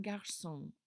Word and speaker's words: garçon: And then un garçon. Un garçon. Un garçon. And this is a cécédille here that will make that C a soft C.